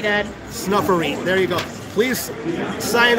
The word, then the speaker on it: Snuffereet: It is Snuffery, S-N-U-F-F. E-R-E-E-T. Snuff, like S-N-U-F-F. E-R-E-E-T. Snuffereet. I'll spell it for you.